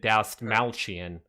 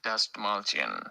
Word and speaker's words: Dastmalchian: let me just ignorantly say I'm going to pronounce it David D malan now I don't know if that's correct that's not it the hell was that kind like oh you're just playing ads yeah David dust malan there you go who is actually saying that